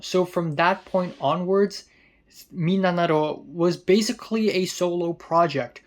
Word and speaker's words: 3776: Now, 3776 is pronounced Minanaro because mi as in mitsu, which means three, na as in nana, which means seven, and ro as in roku as in six.